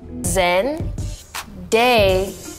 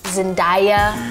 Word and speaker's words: Zendaya: Zen. Day. I think a lot of people see my name, they think it's more fancy than it is, and like, they think Zendaya, like papaya. It's just Day.